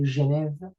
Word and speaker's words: Genève: That's why we don't say, for example, the city Basel in French, we say Bâle, as we don't say Geneva, we say Genève, right?